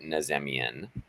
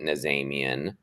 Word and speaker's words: Nazemian: to pronounce my surname so I pronounce it nazemian um I have a cousin who pronounces it Naaman my brother and parents I think say naimian so there's there's no way in in Persian we say naiman but I tend not